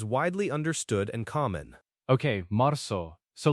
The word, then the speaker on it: marzo: The a sound like in father, and the z in Spanish is usually a f the sound in Spain, but a softer sound in Latin America. Which one are we going for? Good question. For our purposes, let's go with the softest sound, like in most of Latin America.